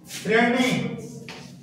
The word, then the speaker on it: শ্রেণী: শ্রেণী যদিও শ্রেণী উচ্চারণ করতে পারি না, আমরা শ্রেণী উচ্চারণ করি, দন্ত নয় উচ্চারণ করি, কিন্তু এটা তো তৎসম শব্দ, বানানটা কি আছে?